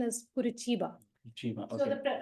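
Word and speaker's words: Curitiba: no the pronunciation is kuraa so the the spelling is c r i t i ba the pronunciation is kurba so the kuruba is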